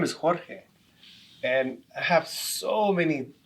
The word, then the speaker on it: Jorge: when people call me George. It's not George, it's Jorge. I'm Mexican born, and it's really frustrating for me. George is spelled with the G, Jorge is with the J, and it takes me